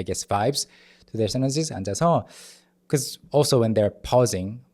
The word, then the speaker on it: 앉아서: On the chair, and 앉아서, sitting there. So 앉아서, 안, and then the 지읒 is carried over. 앉아서, it's not silent.